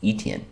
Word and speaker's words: Etienne: For rushing for Jags, I don't know how to pronounce his name. Etienne? Etienne.